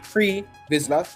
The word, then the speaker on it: Pre Vizsla: So, Pre Vizsla, pronounced Pre Vizsla, was a male human from the planet Mandalore